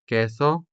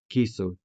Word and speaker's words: queso: o and i uling But for loan words such as queso which means cheese, the pronunciation could either be queso or queso.